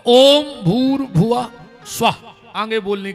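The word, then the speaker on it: भुवः: अपन बोला ओम भूर भव स्वाहा तत्स वितुर्वेण्य इसमें एक शब्द कम पड़ रहा है। गायत्री का सही उच्चारण है ओम भूर भुव स्वाहा।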